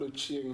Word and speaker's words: Ochieng: I think I ran away from that because I didn't know how to pronounce it. It's called Ochieng, meaning I was born in the afternoon.